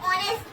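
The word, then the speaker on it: honest: Matter करता है अगर मैं पढूं इसे तो ऑनेस्ट पढ़ा जाएगा।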